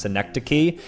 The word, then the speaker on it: synecdoche: The suffix "-key" trips up many English speakers like this word right here, which is pronounced synecdoche, and words with silent letters like isthmus can prove equally tough, though mainly because people are unaware they contain silent letters.